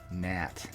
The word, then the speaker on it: gnat: Silent letter pest. Gnat. G is a silent letter.